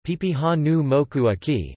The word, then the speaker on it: Papahānaumokuākea: In 2007, the monument's name was changed to Papahanuamokuakea Hawaiian pronunciation, Pipihanumokuaki Marine National Monument.